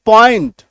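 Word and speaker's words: point: हम लोग पीओ एनटी पॉइंट पीओ एनटी पॉइंट clear है आई बात समझ में स्क्रीनशॉट लीजिए जब किसी शब्द के बीच में ओ आई आ जाए तो ओ आई का उच्चारण ओई होता है यानी कि यहां तक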